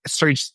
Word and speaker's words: Xurge: Surge is spelled as X, as in X-ray fish, right?